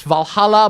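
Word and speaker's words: VA-11 Hall-A: The game is VA1 Hall A. It's Valhalla, but the double L's are spelled with 11 instead of double L's.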